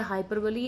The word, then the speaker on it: hyperbole: आप में से कई उसको, क्योंकि स्पेलिंग क्या रहती है HYPERBOLE, आप में से कई शायद उसको हाइपरबोल भी प्रोनाउंस करते होंगे, पर the exact pronunciation of that word is हाइपरबली।